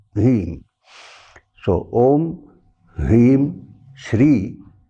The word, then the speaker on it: Hrim: The Bijakshara, the seed sound is Hrim. If you write in English, H-R-E-E-M. H-R-E-E-M. Hrim.